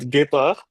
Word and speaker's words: Guépard: So the short story for that is we are actually French, and we used to start or like we started the company in France, and Guépard is the way we actually pronounce it, is actually cheetah in French.